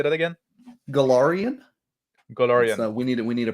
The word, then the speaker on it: Golarion: Golarion. Golarion. We need a pronunciation guide.